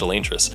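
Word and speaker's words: Elantris: It's pronounced Elantress, War Breaker, Stormlight Through to Dawnshard, White Sand, Misborn series 1, and Wax and Wayne through Bands of Morning.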